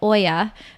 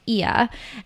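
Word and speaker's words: Oia: to Santorini Greece tuia which I used to pronounce wrongly I used to call it Oya but Rolf Potts kindly let me know that it's pronounced iya and so I'm just sipping some coffee it's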